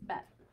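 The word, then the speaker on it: בּ: So without the ball in its belly, there's a vacuum. So it's vet. With the ball in the belly, it's bet.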